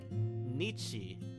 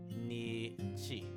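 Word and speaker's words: にち: And this would be pronounced as nichi or nichi.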